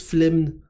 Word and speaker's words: flemme: la flemme flemme ne ça s'écrit flemme avec deux m et ça se prononce flemne ok c'est ça que